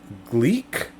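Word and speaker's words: Gleick: new science by james gleek maybe that's how you pronounce it g-l-e-i-c-k author of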